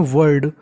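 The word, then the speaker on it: world: मतलब होता है उन्नति डब्लू ओ आर एल डी को पढ़ते हैं वर्ड इसमें एल हमारा साइलेंट होता है वर्ड का मतलब होता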